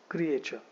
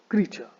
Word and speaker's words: creature: I see a lot of students actually pronounce this word as creature. तो the correct pronunciation of this word is not creature but it is creature. है ना? तो इस word को आप creature मत बोलना. इस वर्ड को आपको बोलना है creature. It should be pronounced as creature. Creature. It is creature, not creature.